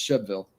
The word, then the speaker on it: Shelbyville: of words that make they took out the b part it's it's instead of Shelbyville it's shville chville well I remember